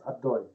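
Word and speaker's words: Adonai: The numerical value of the full name of HaShem, that's the name Yud K Vav K that we pronounce Adoi, right?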